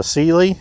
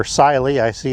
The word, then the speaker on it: Cyelee: something different on Top This is a cely or s see it pronounced both ways I kind of want